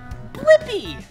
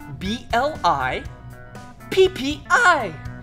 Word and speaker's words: Blippi: have to do is search for my name blippi yeah let's spell it together ready b-l-i p-p-i blippi good job now you know how to